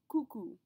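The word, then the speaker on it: coucou: one to learn anyway the word is cuckoo cuckoo just like the clock cuckoo this is is extremely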